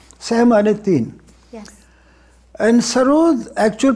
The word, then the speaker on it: sarod: And sarood, actual pronunciation is sarood, which means mausiqi, nagma, tarannum.